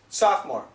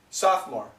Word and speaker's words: sophomore: the spelling is soft well more but the pronunciation is sophomore sophomore sophomore then it's junior and then it's senior okay